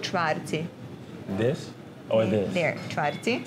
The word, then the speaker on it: čvarci: It's called čvarci.